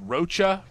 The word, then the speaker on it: Rocha: I messed up his name. It's pronounced Rocha.